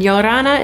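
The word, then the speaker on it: Ia ora na: guys it's Lauren from it's the Kelly's and yorana is how you say hello in Tahitian because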